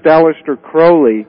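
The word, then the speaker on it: Aleister Crowley: which is aliser uh Crowley like a crow the bird but uh yeah he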